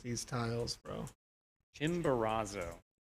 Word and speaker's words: Chimborazo: Chimborazo. That's how it's said.